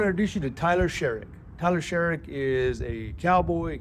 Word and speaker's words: Sherrick: Sherik. Sherik. All right. I, uh, I have had a hard time pronouncing some of my guests names.